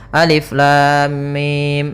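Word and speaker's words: الم: Maka cara yang benar membacanya adalah seperti ini. Alif lam mim. Panjangkan dulu lamnya. Kita ulang kembali. Alif lam mim.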